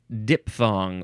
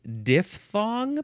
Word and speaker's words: diphthong: Next is falling diphthong, or is it diphthong because it's spelled with a PH? I think we talked about that way back in the D's.